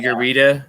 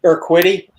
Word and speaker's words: Urquidy: Urita, or however you say his name. Urquidy.